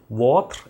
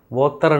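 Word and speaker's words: votre: இக்கு என்று அர்த்தம் வாட் வாத் என்பது உங்களுடைய எத் என்பது உதவி அப்ப மெஸ்ஸி பூர்வாத் எத் என்றால் உங்களுடைய உதவிக்கு நன்றி மீண்டும் ஒருமுறை அந்த உச்சரிப்பை பாருங்கள் மெஸ்ஸி பூர் வாத் வாத்தர் என்று சொல்லக்கூடாது வாத் எத் எத் மெஸிபுர் வாத் எத்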